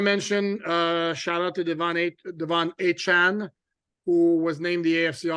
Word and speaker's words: Achane: And he's like, well, I'm so used to people not saying it right that I just let it slide, but it's Achane.